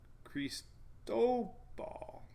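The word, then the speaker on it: Cristóbal: been drinking you know if this is on the second syllable crease dough ball it's harder I just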